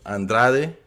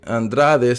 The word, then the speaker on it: Andrade: with canelo is batturbiev andre andrade says andrade when he pronounced his name because he's cape verdean which was colonized by portuguese so it's not in spanish he could say whatever